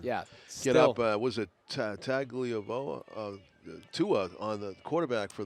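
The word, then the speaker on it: Tagovailoa: Was it Tagliavoa? Tua on the quarterback for Miami. Just another example. So. Tungalaivoa. That's how he's pronounced. Yeah. Yeah. Yeah, it's tough. The tag is a tongue.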